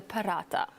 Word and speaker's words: paratha: The paratha. Aloo paratha. Paratha. Yeah, so there's kind of emphasis on the TH.